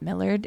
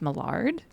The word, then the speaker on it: Millard: Apparently, it's actually it's not Millard, it's Mard.